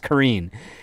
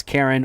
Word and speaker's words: Carin: But here, we literally have a character named Karen McGraw, but she's pronounced Corrine, but it's spelled Carin, which most people would be like, oh, that's Karen or Karin, either way, and it's like, okay.